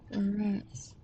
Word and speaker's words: Juarez: The J don't actually pronounce it. Oh, okay. Juarez.